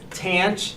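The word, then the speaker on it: tanh: So, but that's, most of the time you're going to hear cinch, tanch.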